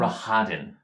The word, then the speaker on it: Rahadin: Rahadin.